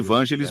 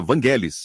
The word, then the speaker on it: Vangelis: Nós chamamos de Vangelis, mas o correto é Vangelis.